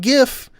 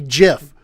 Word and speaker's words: GIF: The creator of the file format himself declared the pronunciation to use the soft G.